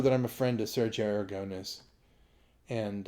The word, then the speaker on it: Aragonés: Okay, a lot of people know that I'm a friend of Sergio Aragonés. And isn't it funny we all say it like Americans instead of Sergio Aragonés?